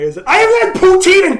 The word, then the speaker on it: poutine: That's not even how it's pronounced. It's not pronounced poutine. It's French, so of course it's poutine. But like nobody actually fucking says that unless you're from Quebec.